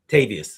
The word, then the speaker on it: Tavarius: I even said that guy's first name wrong. Sorry. It's No, no, no, no. I'm just saying like players. Tavarius Tavarius Tavarius Robinson and Kayvon Thibodeaux Kelly.